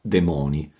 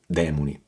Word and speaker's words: demoni: graffi Alo con l'uncino breve parentesi sulla pronuncia corretta della parola demoni non quindi demoni il singolare è il demonio quindi il plurale è i demoni poi a inizio del